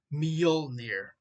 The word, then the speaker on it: Mjolnir: Once again, that is the right way to say it, Mjolnir, not Jonathan.